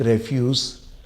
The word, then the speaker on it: refuse: We should not throw domestic रेफ्यूज ऑन the roads.